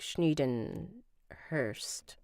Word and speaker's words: Schneedenhurst: Google says to pronounce it like Schneedenhurst, like first. It rhymes with first.